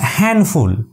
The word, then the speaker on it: handful: It's your handful, not D. D is always remain silent here. So handful. Sandbag, not D.